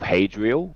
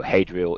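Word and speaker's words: Hadriel: Army oh yeah it is the host of hadrial or one word so hadrial is spelled h a d r i e l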